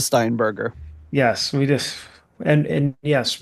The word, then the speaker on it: Steinberger: a one of those Steinbrenners to play the solo. Mm-hmm. The Steinbrenners. The headless. I know I said it wrong. Yeah, if you're new to the show, we know it's called a Steinberger.